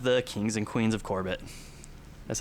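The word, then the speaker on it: Corbett's: And uh we also have the kings and queens of Corbett.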